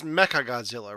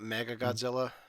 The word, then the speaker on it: Mechagodzilla: three movies later so it's mechagodzilla right not mega godzilla because there's the h in there okay yeah it's mecca becca mega however i'm pronouncing it there's an h in the word okay so yeah that's